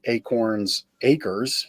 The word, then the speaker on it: Acorn Acres: And then that blossomed into something that propelled the Acorns Acres.